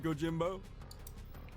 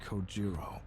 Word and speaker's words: Kojiro: The way he deliberately mispronounces my name really bothers me. It bothers me so much that the anger boiling inside me gives me strength to open my mouth once more. It's Kojiro.